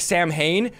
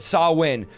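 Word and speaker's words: Samhain: Channel they say um by the way the pronunciation of this it looks like Sam Hayne but it saw win so this is how Halloween started sawwin is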